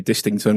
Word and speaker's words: Distington: NCL division 3 dington which is s pronounced wrong really should be distington really who puts a silent te or anything there yeah